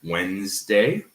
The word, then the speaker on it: Wednesday: Wednesday, for example, seems like it should have 3 syllables, but it doesn't. It has 2. Because even though it's spelled Wednesday, we have elision, and the D sounds like it's in the middle, so it's Wednesday. Okay? Right? So Wednesday instead of pronouncing Wednesday. So in Wednesday, the D disappears. The D is silent.